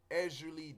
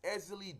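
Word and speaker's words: Ezili: West a lot of people say Ezra Lee don't tour with an R there is no R it's easily don't talk you know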